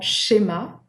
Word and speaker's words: schéma: So make sure not to pronounce them the English way with a T sound before it. It's not ch, like chip, right? It's not like this. It is just sh, right?